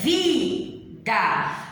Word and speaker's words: vida: Eu pronuncio vida ou eu pronuncio vida? Então, vida. A sílaba vi é a sílaba tônica, ou seja, a sílaba mais forte na pronúncia.